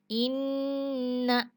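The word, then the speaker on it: إنّ: musyaddah guna musyaddadah Hai dibacanya itu ditahan dan juga agak sedikit dengung makanya tadi Inna Inna ya lalu yang kedua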